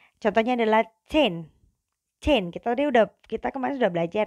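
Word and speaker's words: zehn: Contohnya adalah chain. Chain. Kita kemarin sudah belajar ya. Jadi SMAN chain Malang, bukan SMAN Zen Malang gitu ya. Bacanya chain.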